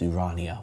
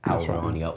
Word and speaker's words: Ourania: I don't know how it's spelled, so. With an O. O what? Al. U. O-L-U? Ourania, I think. O-U-R. So I'm going to say how our.